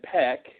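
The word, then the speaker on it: Paik: I just have to believe that Peck, which is the pronunciation apparently yes, is that he would have to know this money would get confiscated at Customs.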